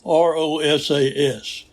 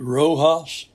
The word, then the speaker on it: Rosas: credit to Raymond Rosas, R-O-S-A-S. Now, I had pronounced it Rojas several weeks back, and Hans Lemmerman told me that was wrong. And he said it's Rosas.